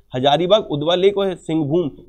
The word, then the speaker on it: सिंहभूम: उसके बाद बाइफरकेट करिए तीन और, हजारीबाग, उदवा लेक और सिंहभूम, सिंहभूम, सिंहभूम, exact pronunciation is दी सिंहभूम, Hazaribagh, उदवा lake और सिंहभूम जो एलिफेंट रिजर्व है, इट is located in the Jharkhand.